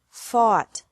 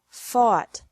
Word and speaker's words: fought: catch caught caught fight fought fought seek sought sought teach taught taught think thought thought remember that the g is silent in these verbs verbs with three